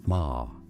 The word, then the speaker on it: Maher: In English, the pronunciation of this name is usually Ma.